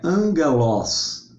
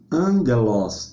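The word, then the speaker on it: ἄγγελος: angelos da mesma forma o omicron é um o aberto como vovó e não um o um o fechado como vvu como você ok então é angelos angelos a pronúncia correta compare com o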